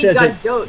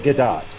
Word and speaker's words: Gadot: pronounces her name, because everyone pronounces it as if it's French, but she's fucking Israeli. Like, why would it be a silent T?